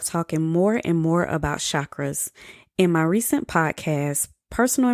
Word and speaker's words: chakras: asking more questions about chakras first of all the actual word is pronounced chakras like chalk and okra chakras but the country in